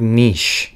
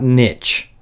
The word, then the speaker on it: niche: niche strategy, and yes, I'm using the correct pronunciation of the word niche. It's not niche, it's niche. Look it up.